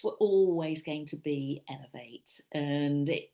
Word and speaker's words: Ellev8: So the books were always going to be elevate and it's spelled EL V and then a number eight. So L as in feminine woman in French.